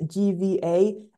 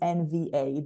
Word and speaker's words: NVA: the name so I I said it wrong I said gva and it is NVA the the national Norwegian